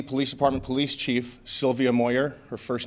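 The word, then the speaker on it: Moir: Shortly, we'll have our Tempe Police Department Police Chief, Sylvia Moyer. Her first name is spelled S-Y-L-V-I-A, last name Moyer, M-O-I-R.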